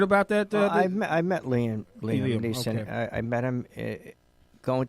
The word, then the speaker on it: Neeson: Okay, It's pronounced Neeson. Neeson. Is it Neeson? Is it Neeson? Not Nielsen?